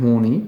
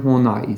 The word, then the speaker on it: Horney: pronouncing it wrong so it's not Karen horny as I thought but Karen hornai so thank you to